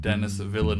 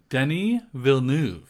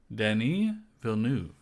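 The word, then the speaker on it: Denis Villeneuve: did you know the director's name is not Dennis villain no the his name Denny vnu he's French why does he go by Dennis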